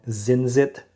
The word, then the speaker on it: Zincit: And this one right here is from a newer brand called Zinzit model. Yeah, this is the Singer DLS. Um this is how you spell it, z i n c i t.